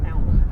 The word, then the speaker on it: Alma: Is it pronounced Alma or Alma? Alma.